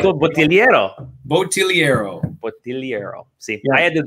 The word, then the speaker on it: Bottigliero: Yeah, the G is silent though. So Bottigliero.